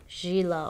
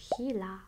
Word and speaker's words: Gila: gaming hila gaming mouse it's spelled with a G I want to call it Gila or GAA but it's hila here's everything that comes